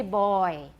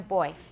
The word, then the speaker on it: boy: but not the same remember in taiwan english you often make which sound too long in this diphthong in the word boy that diphthong which which of the two parts of the diphthong usually gets too long in taiwan english the all part don't say boy that's a little more british but not quite in american it's quite short everyone boy poison toy